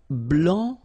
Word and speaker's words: blanc: okay so here masculine BL don't pronounce the final C and then blanch okay